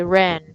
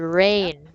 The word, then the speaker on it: rain: usually pronounce it as for example the word rain right so most of my students say Ren Ren that's what I usually